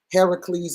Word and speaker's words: Heracles: Heracles is how it's pronounced in the scripture.